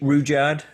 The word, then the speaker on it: Rudyard: Uh this is a a poem by Ruddyard Rudyard. Is that how you say it? Reard I would say I would say Rouard Rouard. Yes. Rouard Kipling.